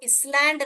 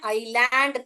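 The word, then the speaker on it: island: या chain of आइलैंड इसको स्लैंड नहीं पढ़ते हैं आइलैंड पढ़ते हैं एस जो है साइलेंट है यहां पर ओके अ नेटवर्क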